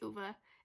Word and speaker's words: Ova: times I tell you it's OVA is how they pronounce in the audio book but I probably say ova ova and whatever like everybody else but whatever wants to